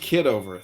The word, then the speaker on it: Kitover: It's pronounced kiddover.